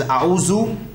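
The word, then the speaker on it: أعوذ: This za, generally we say it is a'uzu. It is not za as in zaid, but this is the za that you need to hold your tongue with your teeth and then pronounce za. If you hold your tongue with your teeth, this is the exact pronunciation that will come out. Because in Arabic, there is za, za, and dha. All three are different, right? However, there is no dha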